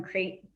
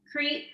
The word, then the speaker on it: Crete: it's from greece from crate crate is that how you pronounce it crete yeah yeah so it